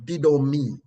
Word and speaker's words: didomi: is transliterated from the Greek to English as D-I-D-O-M-I. And it is pronounced didomi, didomi, didomi.